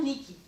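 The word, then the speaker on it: νίκη: En grec, on a deux mots qui veulent dire, qui ont le même, qui se prononcent par le son niki.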